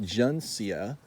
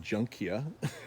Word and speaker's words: juncea: okay well no it's called strelitzia juncea because they don't want to sound like junk eeeh which is how it's spelled and it is the